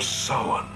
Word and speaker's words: Samhain: Halloween, the festival of Samhain.